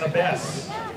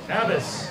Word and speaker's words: Abess: Okay, next one is Chris Abess. Chris Abess. A-B-E-S-S. Chris, are you here? Abbas, sorry. Chris Abbas. Not here, sorry. Mispronounced your name too.